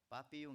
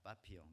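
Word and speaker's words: papillon: 나비가 무엇일까요 불어로 프랑스말로 우리가 잘 아는 단어 빠삐용 있니다 파피용 뭐 발음이 뭐 파피 용인지 자 빠삐 용이라고 하죠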